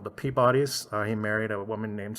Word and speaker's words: Peabody: he did marry into a family called the peabodys he married a woman named sophia and yes that is how it's pronounced um she she was his pretty much